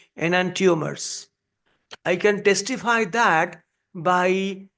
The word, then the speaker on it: enantiomer: I was also saying enantiomer for a long time until I found the actual pronunciation. They are saying enantiomer. I was really surprised when the native speakers are saying enantiomers. So I had to change my pronunciation, enantiomers.